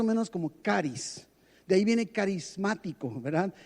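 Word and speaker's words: χάρις: La palabra que se traduce al español como gracia es una palabra griega que se pronuncia más o menos como caris.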